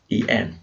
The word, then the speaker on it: Magdalen: Magdalen College, by the way, is spelled strangely Magdalen, but pronounced Magdalen for reasons that I have no idea.